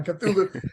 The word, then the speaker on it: Cthulhu: Kulu K yeah yeah cthulu cthulu is the proper uh proper Annunciation cool cool that's how